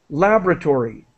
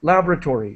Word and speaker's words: laboratory: in and just quickly I'm Canadian so I say laboratory so I do not pronounce this o syllable labra laboratory laboratory other people say la laboratory either pronunciation is correct